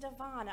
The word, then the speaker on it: Devana: Miss Devana. Hey, that rhymes with Iguana.